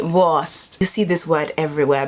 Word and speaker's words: Wurst: like the w is kind of like a v so voice it's like a soft v worst you see this word